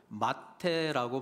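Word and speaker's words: מַטֶּה: 미타, 그러니까 영어로 하면은 MTH, 이 히브리 알파벳의 그런 자음이 MTH인데, 발음을 미타라고 발음을 하면 침상이 되고 마테라고 발음하면 지팡이가 되는 것이거든요.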